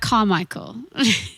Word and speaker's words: Kamichel: Kamichel on Instagram. I think if you're more English like me, it's like more like Carmichael. It's Kamichel, but it's Carmichael. Without the R and the A.